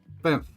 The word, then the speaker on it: Banff: Like, Banff. Like, ban and then put an F at the end.